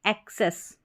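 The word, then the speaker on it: access: Pronounce कर सकते हैं, लेकिन AC को एक करके इसका उच्चारण होगा, एक और फिर सेस, एक्सेस, ठीक है, एक्सेस।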